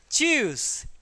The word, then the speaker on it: tschüss: choose. TS, don't say it tuse or anything. It is silent, so it will give the sound of choose.